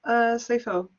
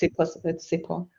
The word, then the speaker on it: Sipo: Does that answer your question, Sifo? Sorry, I don't know if I'm pronouncing your name right. I'm sorry. That's okay. It's Sipo.